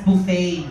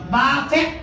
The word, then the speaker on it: buffet: babit walang y chz you pronounce it as buffet buffet buffet nga buffet talaga buff